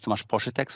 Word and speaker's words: Tomasz Poszytek: My name is Tomasz Poszytek, so this is the proper pronunciation.